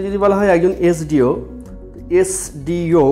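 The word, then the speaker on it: SDO: কিন্তু যদি বলা হয় একজন এসডিও, এসডিও যখন উচ্চারণ করছি সবার আগে এ এবং তারপর স, এ স এস, ভাওয়াল সাউন্ডটা আগে মুখে আসছে।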